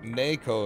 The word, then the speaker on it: Neko: it n-e-c-o because NECA Naco in Japanese is n-e-k-o technically even though it's technically nay and KO uh I don't really